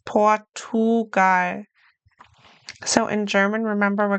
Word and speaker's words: Portugal: Portugal. It's not Portschugar, like a ch, it's Portugar. So, in German, remember we're going to pronounce each letter in the word.